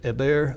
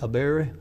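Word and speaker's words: Eber: to cross over and keep in mind the pronunciation a bear a bear it's going to be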